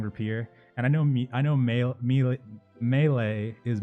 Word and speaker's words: rapier: By the way, I know it's pronounced rapier. I'm so sorry. For some reason, I just like saying rapier, and I know melee